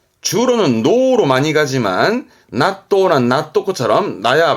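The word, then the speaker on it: 納豆: 묶혀 뒀다가 먹는게 낫또가 되는 거죠 그게 한점입니다 낫또 낫또 그렇죠 이게 납득 있니다 납득하다 발음은 도그 도그 그래서 발음은 낫또 그리고 낫또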